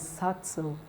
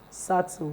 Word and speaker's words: subtle: so the answer is subtle subtle the B is silent o sound o sound